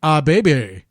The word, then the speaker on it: Kip Abee: This is another Power Plant alumni in Kip Abee, actually pronounced, according to Shivani, Abee.